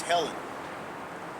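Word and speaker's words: Ἕλλην: And the pronunciation is Helen.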